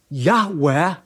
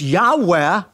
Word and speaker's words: Yahweh: in the consonants and because the Hebrew began to be pronounced in English from a yah to a j so rather than being pronounced Yahweh the church says Jehovah